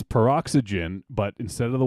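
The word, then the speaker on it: Peroxy?gen: it's it's the name the way you say it is peroxygen but it's spelled perox why question mark Jen the Y is spelled out it should be peroxygen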